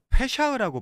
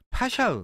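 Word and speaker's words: פסח: 페샤흐라고 발음할 수 파샤흐, 그러니까 6월절이거든요.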